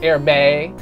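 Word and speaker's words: Hermès: I got a grown-up tie from a place that I call Hermes, but apparently if you're fancy and pronounce things the correct way is Hermes.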